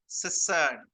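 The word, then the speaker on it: cistern: सिसर्न. टी is silent. सिसर्न.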